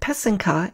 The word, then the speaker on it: pysanka: The accent is on the second syllable. An easy way to remember how to say it is that the first and third syllable rhyme. So that's the pe and the ke. Put it all together and you get pesenka.